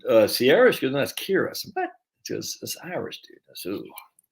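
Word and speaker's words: Ciara: and do you know c-i-a-r-a isn't sierra coley's got a friend akira and i said but i saw her name said uh sierra's because that's kira what irish dude that's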